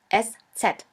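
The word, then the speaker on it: Eszett: We call it s set. s set or sha s sha s which means a sharp s. This letter is pronounced like the double s in the word kiss.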